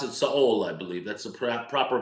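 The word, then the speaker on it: Seoul: and you pronounce it Saul. I believe that's a proper pronunciation of the capital of Korea, North of of South Korea. Soul Korea. We say Soul, but you pronounce it Saul.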